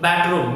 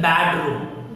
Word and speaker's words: bedroom: Bedroom. Many people speak bad room. Bad. It is not bad. It's bed.